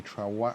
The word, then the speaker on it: Trawangan: Tiki Grove in Gili Trawangan. I don't know how to say it. How do you say it? Trawangan. Trawangan.